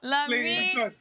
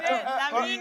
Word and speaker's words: Lamine: It's Yamin Lamau. Lamine. Sorry? Did I get it correct? Gary is chanting for you. You did. Lamine Yamal. Yamin Lamau. Lamine Yamal.